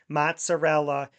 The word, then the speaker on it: mozzarella: Mozzarella is mozzarell.